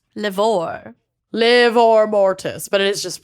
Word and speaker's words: livor mortis: Is liver mortis. Livor. Livor mortis, but it is just pronounced I know.